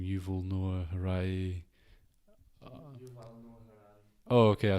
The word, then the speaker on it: Yuval Noah Harari: So the book from there that I read was I don't know how to say his name, Yuval Noah Harari. Oh, okay, I said it right-ish. Yuval Noah Harari.